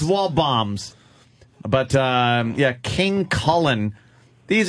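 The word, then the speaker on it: Waldbaum's: guy was like eh anything with a silent D should be blown up wow you got a sink that D in a little bit bombs yeah wall boy it's wall bombs but yeah King Kullen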